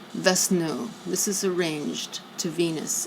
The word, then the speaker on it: Vishnu: Vishnu is pronounced Vesnu.